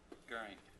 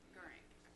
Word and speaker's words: Goering: Goering. Goering. Gur like a tiger, ink like a pen.